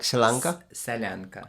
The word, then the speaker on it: Solyanka: How do you say Selanka? Solyanka, Selanka. Okay.